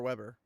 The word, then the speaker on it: Weber: If you're is it Weber or Weber? I would pronounce that name Weber because I knew someone in real life who pronounced it that way.